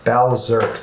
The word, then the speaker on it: Balzerk: Balzerk, to pronounce it more precisely. So it's going to be like Bally Berserk.